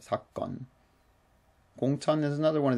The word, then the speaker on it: 사건: In this word 사건, just note the pronunciation is a hard G here. It's like a double G. It's not 사건, but 사건.